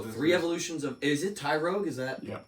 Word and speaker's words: Tyrogue: Joe, three evolutions of Is it Tyrogue? Is that Yep. Tyrogue.